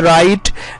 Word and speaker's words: write: तो जब आप प्रोनाउंस करते हैं तो शुरू में जो W आ रहा है हम W की आवाज नहीं निकाल रहे हैं बल्कि डायरेक्टली रो से प्रोनाउंस कर रहे हैं, तो इस तरह हो